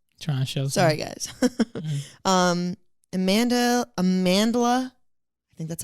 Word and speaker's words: Amandla: oh sorry guys Amanda Amandla I think that's how you pronounce it it's like Amanda but it has an L after the D kind of dumb sorry